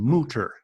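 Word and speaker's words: Mütter: It's Mutter, but the U has an umlaut, so it's Okay. Mutter.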